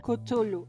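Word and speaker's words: Cthulhu: como lo quieras pronunciar No tengo idea de cómo se pronuncia mi poco conocimiento me dice que se pronuncia kutulu Así que la vamos a pronunciar como kutulu está bien todos de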